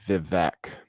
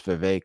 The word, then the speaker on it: Vivek: Most people still say Vivek, but it is Vivek apparently.